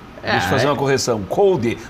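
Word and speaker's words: Coudet: Nós todos, inclusive eu, tínhamos a pronúncia errada, né? E aí os argentinos explicaram. O Cuesta nos corrigiu. O Cuesta nos corrigiu. Kudê. E aí eu fui verificar e realmente é Kudê a pronúncia, né?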